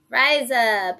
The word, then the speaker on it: Riese: Riese.